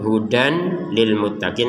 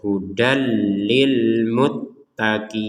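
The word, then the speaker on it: هُدًى لِلْمُتَّقِينَ: Jadi kalau dibaca hudan itu kan hudan lil muttaqin, kan dibaca jelas namanya itu. Maka sekarang karena ada tajwid yang ketika tanwin bertemu lam ini harus dimasukkan, maka kita bacanya hudal lil muttaqin.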